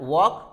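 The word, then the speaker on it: walk: टॉक, एल के बाद में के आया, वॉक, तो हम जैसा आपने देखा एल is also very important if comes before M एफ के डी।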